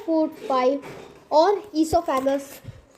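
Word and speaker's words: oesophagus: जैसे कि पहले होता है बकल कैविटी, सेकंड होता है फूड पाइप और ईसोफेगस। ओ ईसोफेगस नहीं, ओ साइलेंट होता है, उसको हम लोग इस फूड पाइप को हम लोग इसीलिए ईसोफेगस कहते हैं।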